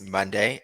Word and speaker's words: Mondae: so like uh Tyler saying my name is Monday um a little bit about myself so I